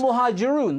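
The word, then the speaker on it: Al-Muhajiroun: You can't even pronounce the name of the group that you've mentioned. It was routinely the case. It's Al-Muhajirun.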